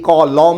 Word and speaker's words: কলম: হিসেবে খেয়াল করুন তো আপনি যখন বলেন আপনি কি বলেন আমাকে একটি ক লম দাও নাকি ক লম দাও লম না লোম লম না লোম ক